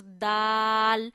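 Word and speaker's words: دال: come to the next this is DAL and Dal and T has same pronunciation we have to touch over tip of the tongue to the roots of upper two fronts Dal Z Dal Z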